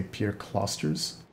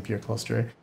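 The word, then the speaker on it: Pierre Clastres: mouse and pierre claustre i've heard some people say pierre closters i've only ever read his name prior to hearing this pronunciation so i'm used to saying peer cluster but also uh james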